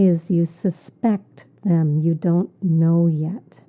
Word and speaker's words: suspect: You can tell by the stress on the second syllable. So if I said suspect, it would be a noun, but I'm saying suspect.